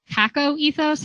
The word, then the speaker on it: kakoethos: And Janelle Johnson, who's a rhetoric scholar, calls this CACO ethos, and it's spelled KAKOETHOS.